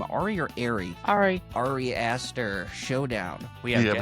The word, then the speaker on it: Ari: How do you pronounce her name? Ari or Ari? Ari.